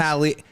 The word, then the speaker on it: Hallie: If it's Haley or Hallie, it's Congratulations, phonetically you guys. it's Hallie. Oh, Hallie.